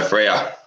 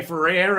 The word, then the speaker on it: Freer: say it properly uh it's just free with r so freya freya yeah i'm going to say for rare and i thought no i i know you don't say it like that on the youtube show